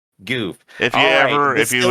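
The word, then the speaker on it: Gouf: it's pronounced it's pronounced goof goof if you ever if you ever yeah well if you ever have any confusion or doubts just remember the Goof Troop ramble roll in the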